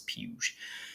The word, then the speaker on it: Puig: David puge real quick I do believe it's pronounced puge when I first saw it I wanted to say it like Puig like yes Yelp weed but I've been told it's peuge so anyway been up and down on live